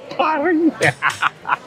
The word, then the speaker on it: Paris: This Paris. That S. You make me laugh. That S is silent. Paris.